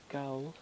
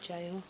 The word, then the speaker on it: gaol: Gaol, but it's spelled Gaol. Gowl. Gaol, it said jail.